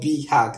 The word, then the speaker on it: BHAG: means okay it's called bhag but it's called B hack that's pronunciation and it's short for big Eerie auditions